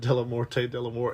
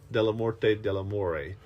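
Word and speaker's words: Dellamorte Dellamore: it came out and we've always said deore delort and it wasn't until this viewing that I heard him pronounce it delort deamore yeah and I was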